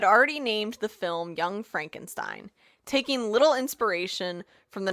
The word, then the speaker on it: Frankenstein: Frankenstein's, it's pronounced Frankenstein, laboratory, where we'll learn the electrifying history of young Frankenstein.